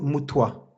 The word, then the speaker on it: Mutwa: prénom, mais c'est Vuzamazulu Credo Mutwa ou Moudva, ouais. Credo Moudva, c'est ça? Credo Mutwa. Mmh. Ah oui, oui, Mutwa, c'est ça. Oui, oui, c'est Mutwa, oui.